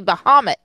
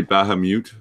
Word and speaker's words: Baphomet: Yeah, do we not say Bahamut? I say Baphomet. I've heard Baphomet too. That's the way I've heard it pronounced.